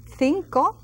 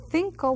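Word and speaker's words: cinco: we would hear saying thinko like in Spain they would say thinko with a th sound and cinko in other countries and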